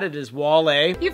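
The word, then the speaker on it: Wale: collabing already in previous videos said that it's pronounced as whale and I got a lot of thumbs up that comment but it is not it is wall you pronounced the name correctly imagine that somebody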